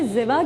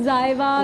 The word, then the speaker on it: Ziva: मुझे बहुत पसंद किस तरह प्रोनाउंस करेंगे? जिवा। अच्छा, कुछ लोग जीवा, कुछ लोग जायवा, कुछ इस तरह से।